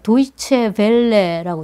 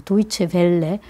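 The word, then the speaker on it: Deutsche Welle: DW였는데 찾아보니까 이게 도이체 벨레라고 읽어야 되죠. 도이체 벨레.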